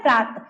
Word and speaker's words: प्रातः: अब यहां पे विसर्ग मान लो लग गया तब क्या पढ़ेंगे? प्रातः यानी अंत में क्या आया? ह।